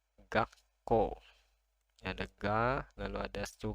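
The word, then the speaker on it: 学校: Jadi ini kalau ada tanda ini su-nya kecil, lebih kecil dari huruf yang lainnya, itu artinya setelahnya itu konsonannya lengkap. Yang ini ko, jadi dibaca gakko.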